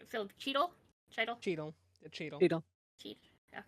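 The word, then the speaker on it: Chytil: Cheadle. Okay. Think of Don Cheadle. Cheadle.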